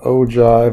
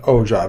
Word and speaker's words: ogive: So this is called an ogive, or pronounced O-J-I-V-E. This is an ogive.